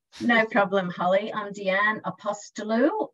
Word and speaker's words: Apostolou: in the world no problem Holly I'm Deanne apostolou it's actually very fanatic if you think of